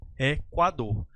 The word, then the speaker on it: Equador: Se o grupo GU ou o grupo QU tiver a sua vogal U pronunciada, essa vogal U vai desempenhar aí o papel de semivogal.